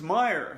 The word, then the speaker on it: Meyer: of applause for mrs meyer said mr klutz we all clapped our hands in circles well thank you said mrs meyer it will be easy to remember my name because meyer rhymes with fire also it will be